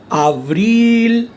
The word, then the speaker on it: avril: Mars, avril, L is pronounced.